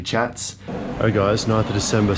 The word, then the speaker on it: kyat: know, it's spelled K-Y-A-T-S, chats. It's pronounced chat. I thought it was kayats, but it's actually chats.